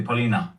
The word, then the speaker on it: Polina: little bit of backgrounds prianka sorry I I mispronounced you Paulina Paulina pra Paulina yeah uh but my studies